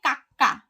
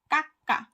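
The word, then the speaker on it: 까까: গিয়ে এটাকে বলা হচ্ছে কাক্কা কাক্কা। এখানে কিন্তু খর উচ্চারণ হয়েছে এটা, অথবা এখানে কয় ক উচ্চারণ করলেও এটা ভুল হবে না, কা এটা হচ্ছে কা কাক্কা কাক্কা।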